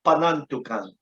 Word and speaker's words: Panantukan: It's just pronounced wrong. It's Panantukan.